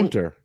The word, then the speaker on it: Gunther: Feg, Gunther. it's Gunther. I'm saying it the American way.